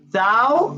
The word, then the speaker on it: thou: thou art, okay, thou, okay, that's the pronunciation of this word.